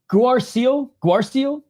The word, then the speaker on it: Guarascio: Guarascio. I had trouble pronouncing his name the last time he was fighting.